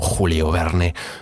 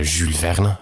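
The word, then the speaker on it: Jules Verne: beraware for tupperware or julio verne for jules verna the most famous 19th century science fiction writer it was very very french so not julio they even spell it with io the book covers it's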